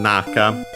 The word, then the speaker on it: Naka: Naka should be accent on the first syllable regardless.